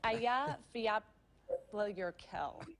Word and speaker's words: Eyjafjallajökull: It's Aya Fjallajökull. Eya, Volik. That's it? It's a name so unpronounceable, we can't even tell when someone says it right.